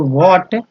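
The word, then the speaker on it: what: पे फॉर वॉट, इसमें H silent है, वॉट वाला में एच साइलेंट होता है, इसलिए वॉट पढ़ते, वॉट दे गेव हिम,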